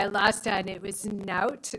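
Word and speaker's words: knout: lost on it was note which is also pronounced Newt which is k-n-o-u-t it's always the one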